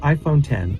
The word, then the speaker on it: iPhone X: iPhone 10 is pronounced iPhone 10 or iPhone 10 not iPhone in the letter X X is the Roman numeral for 10 and Apple chose to